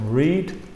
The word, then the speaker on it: read: Read es el presente, pronunciación read. El pasado se escribe igual, pero la pronunciación es read, el mismo como el color.